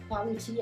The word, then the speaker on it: quality: Alors qu'ici, en anglais, quand vous avez des QU comme ça, ou surtout le son Q, ça se prononce quoi. KW.